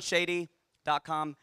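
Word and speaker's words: Shaadi: did not meet on shady.cs are like bet Shi No it's Shady trust me um I am not mispronouncing that at all I'm telling you totally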